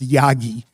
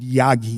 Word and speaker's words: Yagi: It really should be pronounced Yagi, and I'm guilty of saying Yagi, Yagi, Yagi, but Yagi is the right way to pronounce it.